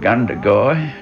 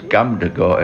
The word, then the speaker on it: Gundagai: One was Away in a Manger, I remember that, and 9 Mile from Gundagai, which I used to pronounce Gumdagai at that time, and... because I was so small.